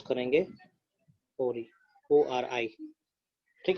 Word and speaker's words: ori: मान चलो यहाँ पे कुछ सीक्वेंसेस था, इसको हम प्रोनाउंस करेंगे ओरी, ORI, ठीक है।